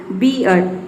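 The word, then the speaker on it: beard: इसमें देखिए आर जो है साइलेंट ही रहेगा, बियर्ड इसको प्रोनाउंस करते हैं बियर्ड।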